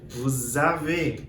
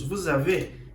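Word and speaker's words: vous avez: função de por exemplo é o s nos avam nós temos o voo vos a ver com o sonzinho de Z também que é o que nos avam nós temos vos a ver pode ser o senhor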